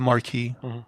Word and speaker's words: Marquis: this Frenchman called the the Marquis is that how you pronounce it now is that his title or is that his actual name no it's the title he's the Marquee okay um so he